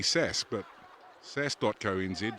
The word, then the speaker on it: SAS: Joe Keenan Zed but if you're pronouncing it correctly because Corey's in my ear again it would be sass but SAS docto means